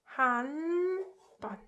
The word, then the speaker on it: 한 번: It's pronounced like 한 번.